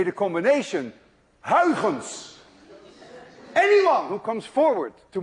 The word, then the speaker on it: Huygens: You see, this sound, U-Y, is pronounced in Dutch as ui. Thus, none of you can say ui unless you're Dutch.